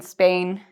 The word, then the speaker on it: Spain: So instead of saying Spain, I've written the S like CE and pain.